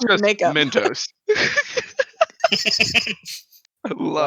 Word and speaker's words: Myntos: No, It's it's just Mentos. spelled different. It's spelled different. It's got a Y instead of an E.